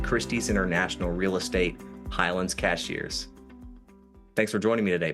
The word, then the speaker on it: Cashiers: I already mispronounced Cashiers. Locals say Cashiers. I said Cashiers.